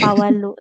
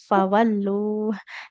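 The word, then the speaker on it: فولوا: Ha hi hu dan fa enggak boleh fa ya enggak fawalu tapi fawallu jadi bibir bawahnya menempel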